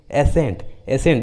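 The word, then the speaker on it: ascent: उसी तरह मसल्स, उसी तरह फैसिनेट, एसेंट, देखिए सभी इंग्लिश वर्ड्स में एस और सी एक साथ आए हैं, इसलिए सी का उच्चारण नहीं किया गया।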